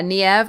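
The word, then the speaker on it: Niamh: is Nev Docker uh Nev or NE people say it two different ways is spelled n i a MH for me it is one of those Irish names that when I see it I'm just like whoa how on Earth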